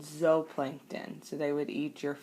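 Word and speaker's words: zooplankton: one spelled zoo and the Plankton but we pronounce it Z Plankton carnivores eat only consumers those are your animals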